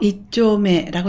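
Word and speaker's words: 一丁目: 1정목이라고 써서 이쪼메라고 읽었습니다.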